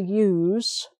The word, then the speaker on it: use: thing happens to is use to use which is the z sound uh what uh what kind of pen do you use um i don't think there's an adjective or an adverb for that word but we have a noun use what use is is a pen when the ink has run out what use is that pen and what use uh is a noun use with an s sound okay and similar to